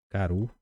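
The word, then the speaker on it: karu: aqui o verbo Caru Caru pronunciamos assim Caru quer dizer comer e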